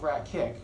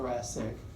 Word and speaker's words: thoracic: practice spelling practice pronouncing it's not the rat kick right it's the Rasik but don't spell it